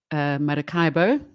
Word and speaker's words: Maracaibo: So there's currently an oil spill in Venezuela at Lake Maracaibo. Apparently it's pronounced like that.